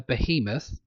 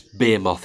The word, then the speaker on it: behemoth: It's called a behemoth. That's how it's pronounced.